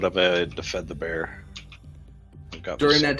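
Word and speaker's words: Bare: He would say he was just called Bear. That's a sad life, bear. But it's spelled different. It's B-A-R-E, so...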